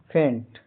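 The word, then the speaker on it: feint: एफ आई ई एन टी का उच्चारण फेंट। यहां इ आई का उच्चारण ए लंबी ए होता है।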